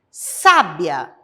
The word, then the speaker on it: sábia: a a sílaba forte sabia que vem do verbo saber é a penúltima sílaba que é a sílaba tônica sabe o be é a sílaba tônica sábia é a antepenúltima sílaba inclusive está acentuada também ela é a sílaba tônica da palavra sábia e vamos seguir é